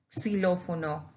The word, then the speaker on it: xilófono: Xylophone, we say xilófono, xilófono. Okay, why? Because we pronounce it like that.